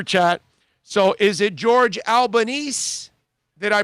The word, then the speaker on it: Albanese: Bromar says Albanese, like Japanese. Okay. Albanese.